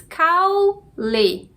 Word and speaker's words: caule: A gente tem aqui duas sílabas, caule. A sílaba mais forte é cau.